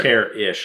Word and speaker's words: Karrasch: Care-ish. Like, you care, but just a bit.